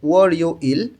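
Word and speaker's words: 월요일: ওয়ারিউইল, ওয়া রিউলটা ইয়ংয়ের স্থানে গিয়ে উচ্চারণ হবে ওয়ারিউইল সোমবার, ওয়ারিউইল সোমবার।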